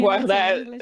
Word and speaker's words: Guarda: I speak Spanish, I would read it Guarda, but... I'm pronouncing Guarda.